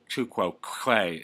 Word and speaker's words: tu quoque: hear will be the logical fallacy to quo two quo Quay is it impossible to pronounce two quo Quay two quo Quay is